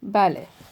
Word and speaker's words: ballet: Billet does not rhyme with ballet.